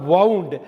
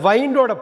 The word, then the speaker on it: wound: வைண்டுனா கட்டுறது, திருகிறது, முடிச்சு போடுறது அப்படிங்கிறது நம்ம சொல்கிற வவுண்ட். அந்த வைண்டோட பாஸ்ட் டென்ஸ் தான் வவுண்டு.